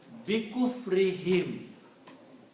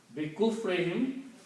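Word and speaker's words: بكفرهم: also pronounce this hum, this dhamma on the ha as a kasra, for easy on the tongue. So this will be pronounced as kasra also. So it will be easy. Bikufrihim. Okay? Bikufrihim, because of their disbelief.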